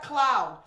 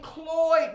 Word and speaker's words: Cloyd: gonna be so excited because it's not cloud it's Vivian Cloyd Murphy I would give myself